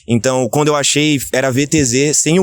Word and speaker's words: VTZE: Bom, pra quem não conhece, esse é o VTZE. Claro, se você vive numa caverna, é VTZE que pronuncia, pra começar. Então, na verdade não, na verdade a pronúncia é VTZ. O E é mudo, entre aspas mudo, né, porque a origem